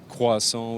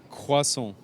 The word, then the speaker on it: croissant: So we have croissant, we have chocolate croissant or pain au chocolat.